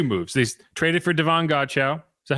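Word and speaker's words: Godchaux: They traded for Devon Godchow. Is that how you say it? Godchow? Godchow, yeah.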